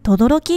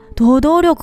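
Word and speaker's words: 等々力: これって書いて、とどろきって読むの知ってた？とどろくかと思ってた。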